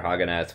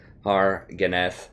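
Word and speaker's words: Hargareth: We're about to get extra experience for Haganeth, which should be great. Am I pronouncing it right? Harganeth. I always leave off the R.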